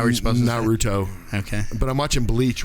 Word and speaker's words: Naruto: staying watching anime naruto yeah but i'm watching not root how do you say it how are you supposed to be naruto okay but i'm watching bleach right now which